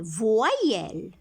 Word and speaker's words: voyelles: Des crayons pour recopier, ici se prononce I, des voyelles. On ne dit pas voyelles, voyelles. On imagine un I ici, toujours avant Y.